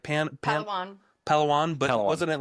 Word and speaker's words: Palawan: How do you pronounce the beach? It was like pan palan. Palawan.